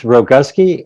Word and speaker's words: Rogowski: I don't screw it up well it's Rogowski and thank you very much for having me